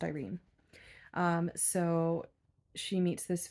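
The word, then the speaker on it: Irian: i a n but according to the audio book which I'm trusting it's pronounced Irene um so she meets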